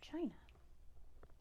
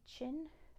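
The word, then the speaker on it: Qin: good not okay so you can say chin but it's really chin say chin without pushing your lips out Chin Chin there you go spelled like this tin the tin Dynasty not the chin the tin good job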